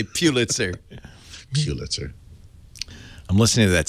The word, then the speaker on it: Pulitzer: See, you Bostonians know how to pronounce that correctly. A lot of people in the rest of the country call it a Pulitzer, but we know better. We know it's better. It's a Pulitzer.